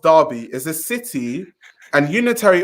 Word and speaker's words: Derby: Derby, pronounced Derby, is a city and unitary authority area in Derbyshire, England, pronounced Derbyshire.